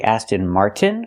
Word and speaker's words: Aston Martin: We have to say Aston Martin with a T. Or we have another way to do it. We can take the T and make it a stop T.